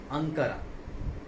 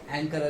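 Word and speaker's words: Ankara: Turkey का capital होगा अंकारा। ठीक है, अंकारा कैपिटल होगा। ओके, है ना? टर्की कैपिटल एंकारा भी बोलते हैं उसको, एंकारा।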